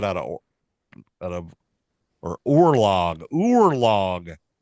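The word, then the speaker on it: oorlog: likely derived from the Dutch word conlog it's pronounced remotely orlock how how do you get that out of out of or orlog orlog not cor log orlog I would have no clue that means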